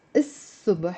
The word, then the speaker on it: الصبح: Simply by adding the il, which means the subh, pronounced as is-subh because sa, the sad is a sun letter, it becomes, bravo Rosie, it's a person.